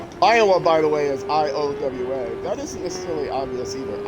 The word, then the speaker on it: Iowa: Iowa, by the way, is I-O-W-A. That isn't necessarily obvious either. Iowa. I mean, it's spelled just the way it sounds, but if